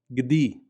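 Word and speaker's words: גדי: But it also represents an I vowel, like in the word for goat, gdi, gdi, gimel dalet yud, gdi.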